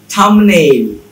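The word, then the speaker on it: thumbnail: এটা আসলে উচ্চারণ হচ্ছে ঠুম। থাম্ব নাকি থাম? বম্ব নাকি বম? লিম্ব নাকি লিম? থামনিল, থাম্বনিল নাকি থামনেইল?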